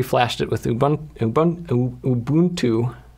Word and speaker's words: Ubuntu: with ubun UB Ubuntu I always say Ubuntu but uh people keep always uh making fun of me for how I pronounce Ubuntu and I actually asked one of the Ubuntu employees at CES how to pronounce it and he said it's ubun 2o so I'm going to try to try to update that but anyway I actually pre-lash